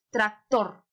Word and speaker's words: tractor: Tractor. A ver, tractor. ¿En dónde? En tor.